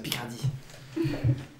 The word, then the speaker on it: Picardy: Okay, Brest moves to Picardy. I'm pronouncing it the French way, it's Picardy.